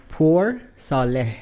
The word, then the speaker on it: Poursaleh: Poursaleh.